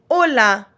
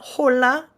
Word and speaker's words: hola: buen bues good evening Ola Ola remember when we talked about our H the H is silent in most words um so our Spanish H is silent we have Ola not hola we have Ola Ola